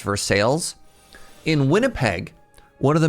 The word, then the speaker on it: Versailles: Now in Kentucky, there's a town called Versailles that's pronounced Versailles.